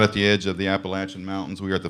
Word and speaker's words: Appalachian: I always think of latch. Appalachian.